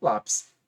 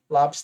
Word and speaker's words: lápis: essa terminação por exemplo lápis lápis tem acento porque é uma paroxítona terminada em I vai levar cento